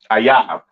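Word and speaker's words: אויב: Ayab. Okay. That is how you pronounce enemy, all right, in the Hebrew. Ayab.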